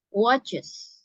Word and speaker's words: watches: Nah, ketika kamu menyuarakan atau pronunciation kan, menyuarakan atau membunyikan ya apa suaranya itu ya, suara ES-nya di sini mirip dengan kata kerja atau to be is ya. Jadi watches. Seperti itu ya, Kak Valeria.